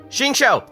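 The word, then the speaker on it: Xingqiu: be talking about shinsho shinsho that's how you pronounce his name hyman didn't know they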